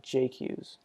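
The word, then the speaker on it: Jacques: o'toole or uh jarrett jock right i guess since it's missouri they don't pronounce it the french way they pronounce it like jake use but uh he he's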